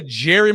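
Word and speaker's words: Jere: Now, by the way, Jerry is spelled J E R E, but it is pronounced Jerry.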